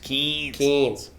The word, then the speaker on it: Cairns: up through the cairns i believe it's pronounced kings did early beach proserpine